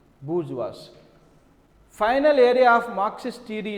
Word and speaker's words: bourgeois: So, pronunciation is bourgeois.